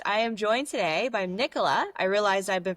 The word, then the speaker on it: Nicola: Nicola.